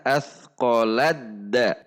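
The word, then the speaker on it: أثقلت دعوا: Sehingga kita cara membacanya adalah athqaladda. Langsung ke huruf dal. Athqaladda wallaha.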